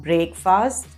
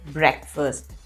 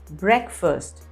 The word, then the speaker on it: breakfast: meal of the day it's not breakfast it's breakfast the correct pronunciation is breakfast i'm planning to buy